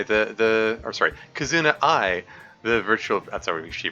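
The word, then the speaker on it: Kizuna AI: oh right so I was pretty big into Casino AI the the or sorry kazuna I the virtual I'm sorry she pronounces her name uh the virtual YouTuber at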